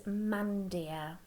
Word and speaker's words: mandir: this um vocabulary here this word is pronounced as mandia okay so to get